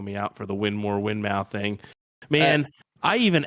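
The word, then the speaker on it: Winmau: and even they were both ways it's technically win more it's technically win more it's technically when more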